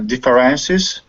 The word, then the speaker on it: differences: differences differences differences but be careful diff first syllable differences differences yeah but you're putting dist stress you're putting dist stress on the third syllable you're saying differences it's not differences first syllable PR differences differences it's better be careful with the third the third is quiet differences differences differences it's